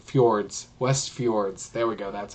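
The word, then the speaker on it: Westfjords: F forour I can't say say F fjords West fjords there we go that's how you say it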